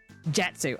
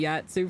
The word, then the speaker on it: Jatsu: It is like it's like how you say Batsu, but with just a J. Okay, Jatsu.